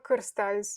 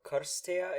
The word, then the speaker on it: Cârstea: Yes, Cârstea it's how I would pronounce my name in my native language. So Karstea is how you say your last name?